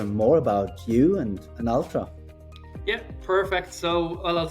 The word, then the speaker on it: Altra: Ultra for some time is that how you pronounce it Ultra oh yeah Ultra Ultra and I've been following